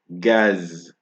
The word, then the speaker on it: gaz: The exception for that is gaz.